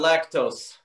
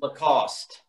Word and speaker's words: Lacoste: have a sale on lactose. Get in the car. I'm like, Mom, it's pronounced Lacoste.